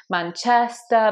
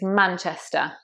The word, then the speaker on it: Manchester: And you want to make sure you get the stress right here. It's on the man, Manchester, Manchester. I've heard people say Manchester, Manchester. It's Manchester. Next one is Gloucester.